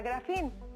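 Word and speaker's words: γράφειν: Bio, que significa vida, y grafía, que viene del verbo griego que se pronuncia grafín y significa escritura o escrito.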